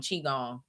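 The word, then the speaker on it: qigong: Um but I'm gonna start doing chong. It's spelled Q I G O N G.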